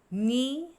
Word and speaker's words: knee: So here the letter K is silent for each of these words.